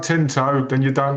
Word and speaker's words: Tinto Brass: And, you know, like, there's like a bunch of like Tyndall Brass. If you're a Tyndall Brass fan, there's a bunch of Tyndall Brass book. You said it wrong. Tinto.